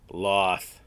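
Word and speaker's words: Lolth: guide helps you navigate through some of them loathe loss officially almost all pronunciations are kin and when it comes to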